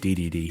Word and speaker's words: Dedede: dday well it's it's they pronounce it as DayDay in Japan and we call it DDD here if you should get